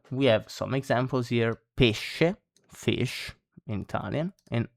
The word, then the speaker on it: pesce: So when SC, sh, is followed by E or I, E or E, you say it like SH in English. So she, for example, no?